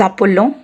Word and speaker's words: appelons: And the endings of nous and vous conjugations, ons and oz, should be pronounced. Nous nous appelons, we call ourselves.